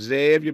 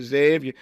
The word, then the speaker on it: Xavier: You know how they say it down in New Orleans, Xavier, baby, Xavier.